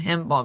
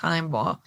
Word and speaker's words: Himebaugh: I keep saying Heimbaugh, but it's pronounced Heimbaugh case, because, there's a special place in hell anybody who could do this to a child.